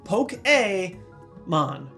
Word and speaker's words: Pokémon: resume fiance and yes poke a man my favorite way to remember this one just imagine Fonzi right in the middle of this word pokeon but beyond that